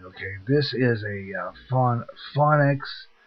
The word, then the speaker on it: Phonic: this is a fun phonics I guess it's pronounced pH o n I see phonic is given to me